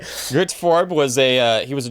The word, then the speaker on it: Gert: Did you say his first name is Girth? Gert, G-E-R-T. Oh, okay. I just... All these people are dirty. Yeah. It was like... Gert Forb was he was